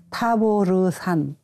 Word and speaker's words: 타보르산: 이제 어느 목사님께 여쭤봤더니 그 스펠링 상 타보르산 이라고 발음하는게 옳다고 했는데 다 어려워 하셔요 아까도